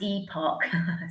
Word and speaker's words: Epoch: Sorry, someone's saying it's pronounced epoch.